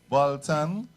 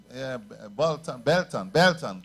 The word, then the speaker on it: Belton: I want to say thanks to Cassandra Bolton. Belton. Oh. Yeah, Cassandra Belton.